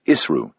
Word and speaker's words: ISRU: "More of Hansa's ISRU," he pronounced it ISRU, in situ resource utilization.